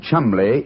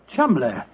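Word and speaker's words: Cholmondeley: Being an American, he had no reason to know that the name Chumbllay is in no way pronounced the way it is spelled. Joe, I never thought of that. Chumbllay.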